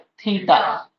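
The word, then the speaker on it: theta: इसको क्या प्रोनाउंस करते हैं? थीटा।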